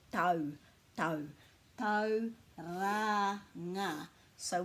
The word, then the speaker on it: Tauranga: So for Tauranga, the key to our pronunciation is to put a break after every vowel. So this is ta-u, tau, tau, tau, au, and we just say it faster.